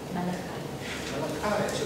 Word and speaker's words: Malachi: it my oh Mal malach was a hard c as in okay thank youy last chapter the new old it's a Biblical name well that that one I did realize but I never knew if it was a hard C or a soft C so now I know